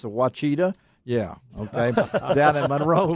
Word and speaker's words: Ouachita: Are going to be, they were the champions down at the Ouachita River, or you folks that don't know how to pronounce it, Ouachita.